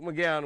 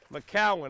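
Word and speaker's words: McCown: I got Luke McGowan with me, NFL quarterback. McCowan. I keep saying McGowan. I know, Luke, it's McCowan.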